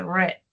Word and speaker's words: read: Entonces, tanto en su presente como en su pasado va a quedar read. Ajá. Solo que se va a pronunciar diferente. Se dice read. ¿Listo? En pasado. Pero se escribe igual que en presente.